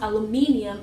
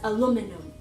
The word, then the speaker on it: aluminum: I found out that Americans pronounce aluminium as aluminum.